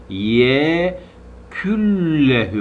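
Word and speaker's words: يكن له: şöyle bu ne okunmuyor nun sakinden sonra cezimli nunan sonra L ve R gelirse bu iki harfte Kural oluyor O zaman şöyle yazılısı y Kün lehü yazıyor okurken ye küllehü okunuyor y küllehü okunuyor n okunmuyor L iki kere okunuyor Bu bir dil bilgisi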